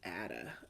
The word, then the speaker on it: Ada: Mr X aah lovelies I keep on saying either Ada or Ada I think it's adaa is the British pronunciation but you know if